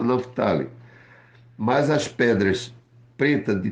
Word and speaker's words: Naftali: A pronúncia correta, Naftali.